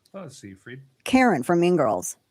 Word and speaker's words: Seyfried: Oh, Seyfried.